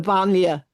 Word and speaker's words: banlieue: how to pronounce I'm going to botch the pronunciation. I was wondering if you could talk about the I think they're called the banlieues. The banlieue, banlieue, the suburb.